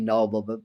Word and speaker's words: Nobel: Look up Steve Nobel, or I think he pronounces it Steve Noble, but spells it Steve Nobel.